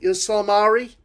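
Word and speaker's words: Ysalamiri: Salamari? Salamari, I think. Salamari? I think the Y is silent.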